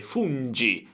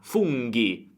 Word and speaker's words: funghi: Attenzione, funghi, GHI, se no senza l'H sarebbe fungi, ma funghi.